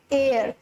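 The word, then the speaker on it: heir: H again silent है, हेयर नहीं बोल रहे, हम बोल रहे हैं एयर, सो एच is silent हियर।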